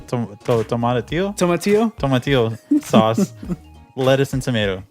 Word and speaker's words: tomatillo: so the what I always pronounce it wrong. It's the tomatillo Tomatillo?